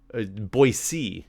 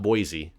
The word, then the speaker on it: Boise: Boise is the real way to pronounce it, apparently. Boise. Not Boise, but Boise.